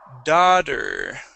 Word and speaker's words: daughter: go okay right here da daughter daughter okay one more time daughter daughter daughter or daughter daughter daughter da daughter yep just like that yeah so that t will turn to a D sound okay um let's go